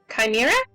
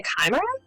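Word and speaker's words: Chimaera: or announcing that correctly I think it's supposed to be a kimer because the H be so it's not like a chair sound it's like a c anyways please notify your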